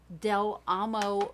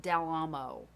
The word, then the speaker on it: Del Amo: YouTube and search on Del Amo Mall I realize that's not how it would be pronounced in Spanish but we called it Del Amo Del Amo mall d-e-l-a-m-o mall there are